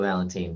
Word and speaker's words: Valentin: Yeah, it's Valentine, but Yeah, but you hear yeah. Without that E on it, we tend to want to pronounce it differently.